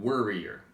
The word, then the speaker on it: worrier: Alright, here, watch for the difference between warrior and worrier. Yeah, worry kind of has like a short E sound.